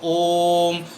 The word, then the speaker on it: ओम: जैसे ओम का उच्चारण करना है तो ओम, तो ओ पे हम प्लुत लेते हैं।